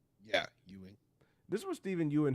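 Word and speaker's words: Steven Yeun: had to say Stephen how you say it Yan yeah Yan this is what Stephen Yuan had to ah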